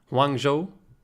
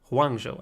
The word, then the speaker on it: Hangzhou: wrongs' ooh spark I'm not even sure I'm pronouncing that right one Joe one Joe I think that's the way you should pronounce it wrong Joe spark is that they